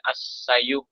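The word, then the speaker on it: السعي: Pengertian sa'i menurut bahasa ialah istilah sa'i sebenarnya pada aslinya berbunyi as-sayu karena huruf terakhir tidak diucapkan huruf vokalnya. Maka umumnya orang menyebut menjadi sa'i saja.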